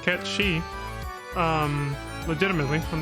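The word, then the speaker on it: Cait Sith: a third wheel this Kate Sith whose name is supposed to be pronounced K she um legitimately I'm not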